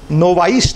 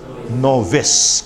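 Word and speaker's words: novice: नोविस जो बिल्कुल अभी नया नया सिस्टम में आया है, इसका प्रोनंसिएशन ध्यान रखना, नोवाइस नहीं है, इट इज नोविस। क्या प्रोनंसिएशन है? नोविस।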